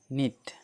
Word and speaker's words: knit: ठीक, जैसे KNOW नो, KNOW नो, इसमें के साइलेंट हो गया, नो मतलब जानना होता है। KNIT नीट, KNIT नीट, नीट मतलब बुनना।